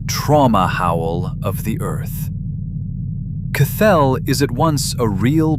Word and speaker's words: Cthelll: They called it Cathell. Welcome to Beyond the Rabbit Hole. Today we're going 3,000 km down. Cathell, spelled with three L's, is the CCRU's name for the Earth's molten metallic core.